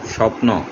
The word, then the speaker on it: স্বপন: অর্থাৎ শব্দের শুরুতে যখন বফলা থাকবে তখন ওই বফলার উচ্চারণ হবে না।